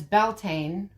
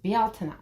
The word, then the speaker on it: Beltane: sin right but belt is always said as belt when it's not. It's actually pronounced Balta.